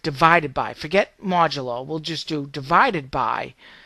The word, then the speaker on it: modulo: I think it's Modulo. Modulo. I've heard it as Modulus. I know there's no S in here, but I've heard it from other places that way. But Modulo.